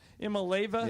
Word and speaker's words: Iamaleava: to devolve into a circus around this Nico Iamaleava? Is that how you pronounce it? Iamaleava?